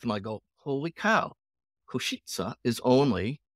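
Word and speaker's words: Košice: or Slovak Koshi is that how you say kosit kosit kosit that's pretty close it just takes me a while so you were headed there I looked on a MTH and I go holy cow kosit is only like 35 kilometers from medson life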